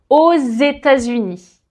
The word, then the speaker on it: aux États-Unis: le X comme un Z pour faciliter la prononciation ce qui va donner j'habite aux États-Unis et enfin par rapport aux villes on va